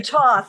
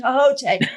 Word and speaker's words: Thoth: that word is in toth is it toth is it thoth is it tohote how do you say it i say toss but you know you will find varieties of that that's fine